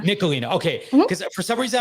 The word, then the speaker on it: Nicholena: want to make sure i don't pronounce your name wrong it's nicolina nikolina okay because for some reason i was like